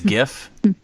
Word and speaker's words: GIF: me that's a motto I think it's a Jeff isn't it it's supposed to be pronounced that way but people started to